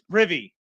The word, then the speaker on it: Prive: Am I saying it right? Prive. It's Privy.